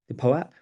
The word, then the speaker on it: POAP: POAP, yes, that is how you pronounce it.